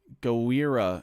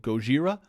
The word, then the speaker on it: Gojira: april you enjoy the gowera it's it's godzilla but i don't know how to say it like actually out loud go gojira enjoy gojira they're great you